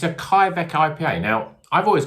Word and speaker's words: kveik: on the back here it says it's pronounced well i mean they haven't written it very well but they pronounced k vike so is it k vike was that k viki k bike kybeck